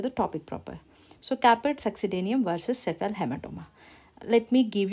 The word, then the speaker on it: succedaneum: So this D and A succedaneum, you are pronouncing it as day, right?